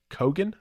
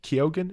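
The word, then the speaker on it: Keoghan: Brendan Gleason and also Barry kogan I think kyogen is how you pronounce his name now most people probably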